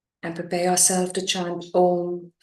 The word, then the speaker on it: Om: And that connection is felt through the vibrations as you chant Om. It's a combination of 3 syllables, A, O, M.